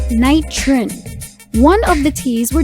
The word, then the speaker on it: Knightrin: to close altercations with rival neighborhoods nitron is pronounced night trin one of the t's were dropped to make